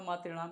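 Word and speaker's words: मातृणाम्: लेकिन इसको पढ़ा था मातृणाम, इसको पढ़ा जाएगा मातृणाम नहीं पढ़ा जाएगा, इसको पढ़ा जाएगा मातृणाम, यानी दीर्घ उच्चारण के साथ इसको पढ़ा जाएगा। ये हो जाएगा मातृणाम का।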